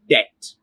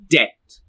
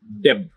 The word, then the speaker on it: debt: this word you're looking at it goes like debt repeat after me debt debt it is debt not debt be silent this word you're looking at here